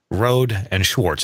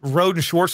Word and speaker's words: Rohde & Schwarz: So twice now you have said Rohde and Schwarz.